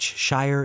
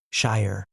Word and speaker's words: shire: In careful speech, shire is 2 syllables, shire. In natural, relaxed English speech, it compresses to shire.